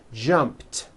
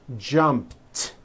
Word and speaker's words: jumped: sound at the end jumped of course the word is spelled with an e D ending it's just pronounced as a T jumped like that the word